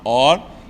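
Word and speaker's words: עור: Só diferencia do Ain para o Aleph. Pele é com Ain e luz é com Aleph. Só que as duas se pronunciam Or.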